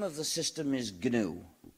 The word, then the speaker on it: gnu: much better than that GNU is the most humor charged word of the English language used in countless word plays because according to the dictionary the g is silent and is pronounced new so every time you